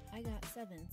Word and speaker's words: IGOT7: When pronounced in Korean, IGOT7 sounds like the term agase or baby bird.